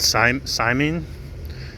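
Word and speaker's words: saimin: got this just this dish called simon it's spelled s-a-i-m-i-n and i'm not sure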